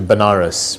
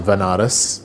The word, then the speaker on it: Banaras: to him so I ended up going to Banaras which is a place in in India sometimes pronounces veneris which is a place where they perform their